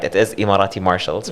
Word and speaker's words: Emirati: what exactly is immorating marshalls and am i pronouncing it right it is imarati marshall's right yes uh actually a minority martial's